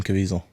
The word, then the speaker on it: Caviezel: Jim Caviezel.